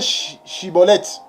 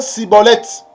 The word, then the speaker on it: Schibboleth: Donc pour ne pas être saisi, il faut bien prononcer Shiboleth. Il ne faut pas prononcer Siboleth.